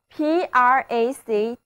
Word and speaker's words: practicable: 所以 PRACTICABLE 就读作 practicable, practicable。